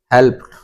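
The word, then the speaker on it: helped: कि और इसमें देखें वर्ब का फर्स्ट फॉर्म है हेल इसमें पी लास्ट लेटर है इसमें इ डी लगा हुआ है तो पी ये अब इसको क्या पढ़ा जाए हेल्प्ड हेल्प्ड हेल्प्ड इसमें देखें यह वर्ब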